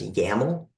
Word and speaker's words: YAML: and also you generally people will pronounce the name of this file as yaml like as if there's an A in it so sometimes you will see